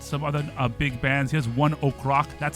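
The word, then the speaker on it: ONE OK: Here's one Oak. That's how that's pronounced, by the way.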